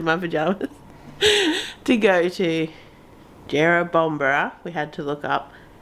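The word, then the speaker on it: Jerrabomberra: I'm still in my pajamas to go to jera bombra we had to look up how you pronounce it Jero bombra to go to parkrun this morning you excited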